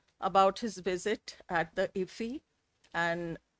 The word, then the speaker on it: IFFI: You pronounce it IFFI. Yeah, IFFI. Is the best way to pronounce IFFI, to get this wonderful honor.